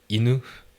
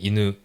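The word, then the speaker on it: いぬ: え、い、犬ですね。そのちょっとイントネーションが違うんですよね。え、犬と犬と犬ですね。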